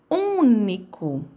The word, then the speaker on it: único: Único, né? Único. Ele tem esse som de fechando o nariz, porque ele tá junto do N. Então, é único.